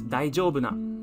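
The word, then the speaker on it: 大丈夫な: this character it's a not adjective and it's pronounced as daijoubuna daijou and it means um nothing more than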